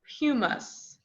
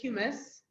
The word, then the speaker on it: humus: dead organisms right and the way you pronounce that is houmous and it's kind of a weird word I'm gonna write it on the board but it is houmous it's not humus I promise so the houmous is